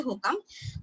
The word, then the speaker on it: HOCM: তারপর ধরো আমি হোকাম, যেটা ওরা উচ্চারণ করে HOCM, আসলে উচ্চারণটা হচ্ছে হোকাম, হাইপারট্রফি অবস্ট্রাকটিভ কার্ডিওমায়োপ্যাথি, ঠিক আছে।